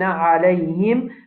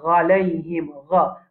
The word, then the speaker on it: عليهم: Après ça, nous avons alayhim. Première erreur, c'est le ain là même. Beaucoup de monde disent ghalayhim. Ghalayhim. C'est pas bon.